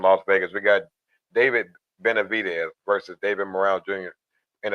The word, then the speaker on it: Benavidez: I forget how to pronounce it. Bidavo. It's Benavidez.